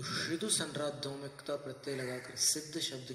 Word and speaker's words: सिद्ध: तो श्रिदु संराधोमिकता प्रत्यय लगाकर सिद्ध शब्द की निष्पत्ति होती है। इसके उच्चारण पर अपनी चर्चा हुई थी कि इसका उच्चारण सिद्ध सी में स्वराघात पूर्वक ही होता है।